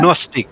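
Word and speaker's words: Gnostic: নস্টিক, নস্টিক, জি এর উচ্চারণটা হবে না, নস্টিক বলবেন।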